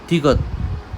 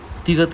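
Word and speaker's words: 디귿: Pronunciation क्या है? त य द, सॉफ्ट टी या सॉफ्ट डी। कोरियन लैंग्वेज में कोई भी हार्ड प्रोनाउंसिएशन नहीं होता, या तो सॉफ्ट त या सॉफ्ट द, इनके बीच का प्रोनाउंसिएशन मीन्स त त त। तो ये तिगत का प्रोनाउंसिएशन है।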